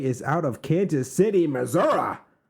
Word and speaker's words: Missouri: And our first one today is out of Kansas City, Missouri. Is that how you say it? No, Missouri. Like misery? Misery.